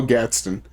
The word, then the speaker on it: Gadsden: Hotel Gadsden, or the Gaston Hotel. I said it wrong.